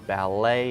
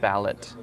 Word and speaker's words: ballet: like T or s if it's a French word it will be silent so ballet instead of ballot right buffet instead of